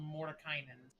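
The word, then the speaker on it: Mordenkainen: How do you say its name? What? It's called Mordekainen.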